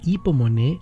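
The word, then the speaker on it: ὑπομονή: Una de ellas, hipomoné, en el griego moderno se pronuncia la U como I, hipomoné y macrotimía.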